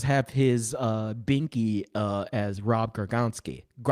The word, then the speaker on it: Gronkowski: his binky as Rob Gronkowski. Come on, you can pronounce a Polish name better than that. I know you. Gronkowski. Yes, there we go.